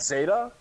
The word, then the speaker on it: zeta: I never ever heard Actually, of Zeta we didn't have a Zeta now. either, but it is pronounced Zeta.